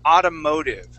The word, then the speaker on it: automotive: Automotive all right so here we're going to be working on that t sounding like a D sound all right so let me spell this word word in here autoo Automotive okay so both of those t's are going to sound like D's Automotive Automotive motive Automotive